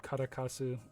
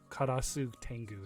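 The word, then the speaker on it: 烏天狗: of wings and feet this is called karakasu uh these are or not karakasu this is a karasu tengu is what it's supposed to be called karakasu is that um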